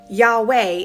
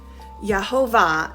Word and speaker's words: Yahweh: Yahweh is the best estimate of how it was originally pronounced. Jehovah, and I might say Jehovah sometimes because I'm a Gentile who speaks English, um comes from a later reading tradition when those consonants